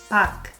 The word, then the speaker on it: 밖: four ways to use this syllable pak it's not the same thing as pog it's the